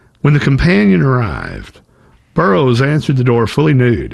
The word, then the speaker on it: Burrous: Like we talked about, his last name is not pronounced Burrous, and as a journalist, he deliberately changed the pronunciation of his last name to sound like Burroughs, as in William S. Burroughs, who is also a